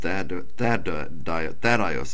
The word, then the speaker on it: Thaddeus: James, the son of Alphaeus, and Thaddeus is how I pronounce it, Thaddeus or Thaddeus.